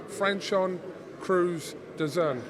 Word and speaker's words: Franchon Crews-Dezurn: I was really panicky about mispronouncing your name, so it's Franchon Crews-Dezurn.